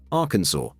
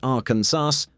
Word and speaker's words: Arkansas: pronounce the state's name, Arkansas, with the final S silent. Say Arkansaws or Arkansawz, and technically, you're breaking the law.